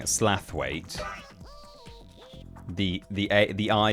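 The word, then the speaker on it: Slaithwaite: I don't think it says slower, but uh yeah, slout. Absolutely not, says Addie P. Yeah, it that word with all of those letters in it is pronounced slit.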